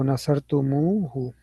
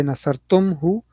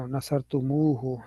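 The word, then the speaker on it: نصرتموه: Instead of nasartum, we say nasartumu. The concept is known as ishba. The concept is known as Ishba. That is good. So Nasartumuhu. Yeah. We don't say Nasartumhu. That is difficult to pronounce. It doesn't have the flow. Nasartumhu. No, Nasartumuhu.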